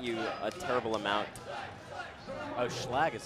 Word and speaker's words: Schlag: Oh, Schlag is how you pronounce it.